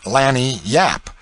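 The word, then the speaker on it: lagniappe: expressive handy word lanyapp they pronounce it lanny yap it is spanish so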